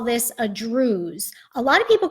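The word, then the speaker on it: druse: we call this a druze. A lot of people call it druzy. The proper geological term is druze. The E at the end is silent, but a lot of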